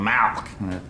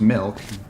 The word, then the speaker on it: milk: you're saying it wrong you're saying Mack like it's a disease how do you say it I'm saying it the way everyone ought to say it milk mi lk right like 2% right whole